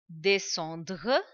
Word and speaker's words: descendre: Sometimes in the beginning, students, they start pronouncing that letter k as well. Like instead of saying science, they make one weird sound, science, or maybe descendre. No, it doesn't give that sound. SCE, it gives the sound s.